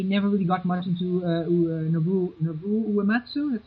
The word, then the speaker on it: Nobuo Uematsu: I never really got much into Nobuo Uematsu, that's how you pronounce it? Yes, Nobuo Uematsu.